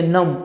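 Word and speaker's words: numb: इसको इंग्लिश में कहते नाम नाम पढ़ना नंबर नहीं या बी साइलेंट है तो मेरी उंगलियों ठंड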